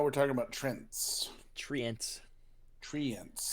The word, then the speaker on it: Treant: There should be an extra E if it's Treant. Mm, So you're of the opinion it's Trent? Trent.